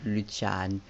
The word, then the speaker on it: Lucian: So, Corbin, Lucian, and yes, it is pronounced Lucian. I don't know how you said it until now, but I mean, I don't really care. You can pronounce it like Lucian, Luchan, the other name. I pronounce them like in an English way, but I don't know. Lucian is Lucian.